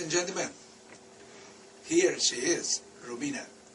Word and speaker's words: Romina: me on the show and yes you did pronounce my name correctly it's Romina uh I came here to Los Angeles to